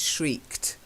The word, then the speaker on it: shrieked: And this one is shrieked. You've got to get the kt.